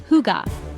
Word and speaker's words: hygge: One thing that makes Danes special is hygge, pronounced hygge.